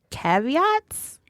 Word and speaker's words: caveats: you say the word caveats what you just said it what you talking about well the first time I saw it I thought it was kavit I was like that's